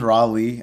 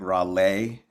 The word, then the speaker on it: Rawle: It is Raleigh. Um, as an artist, we kind of put an accent on the end. So, it's like Raleigh. So, kind of like a to just kind of like slightly differentiate the brand from the personal.